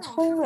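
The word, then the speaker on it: 葱: Se pronuncia zong en primer tono, pero también hay muchos caracteres chinos que se pronuncian zong como zongming, que tiene que ver con inteligencia.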